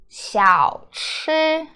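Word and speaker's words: 小: one how do you pronounce this it is pronounced Xiao Xiao it's mo or little you might seen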